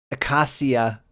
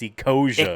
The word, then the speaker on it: Ecosia: I was using Acacia instead of Google. It's Ecosia.